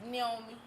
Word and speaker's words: Niomie: It's the I is pronounced with the ni.